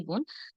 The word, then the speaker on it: বন: হ্যাঁ, যেখানে বোন আছে, ভাই বোন, সেটা তো অটোমেটিক বোনই হবে, তাই না? আর বাকি নয়তো আমরা যে বলি বন, আসলে বন নয়, এটা হবে বোন, বোন।